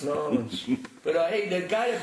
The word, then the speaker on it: New Orleans: Well, we say it as one word.